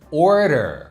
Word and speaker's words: order: 여기에서는 order 이렇게 발음을 해야 되는데 마치 채취라고 하는 단어 order처럼 발음을 해 버렸어요.